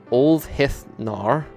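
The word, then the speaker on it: úlfheðnar: meaning bear shirts, and that word pronounced Olfhithnar with a hard th, as in the, which also meant wolf hides.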